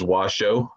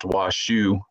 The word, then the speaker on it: Washoe: those in northern nevada you'll see our name spelled as washo w-s-h-o-e my understanding is that this was actually supposed to be pronounced washu um like the word shu and kai and in that instance it is closer to how we recognize ourself however when you look up